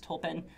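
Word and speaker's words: tulpn: always remember it because tolpin rhymes with Tolkien, like J.R.R. Tolkien.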